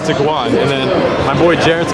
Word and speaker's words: Tiguan: But you pronounce it by Tiguan, bro. that's what I said. I said Tiguan.